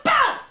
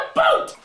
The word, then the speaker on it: about: you socially polite freaks it's about a b o u t not a o o t stop saying a boot this is a boot